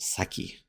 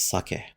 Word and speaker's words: sake: And please note how it's pronounced. It isn't saki, it's sake.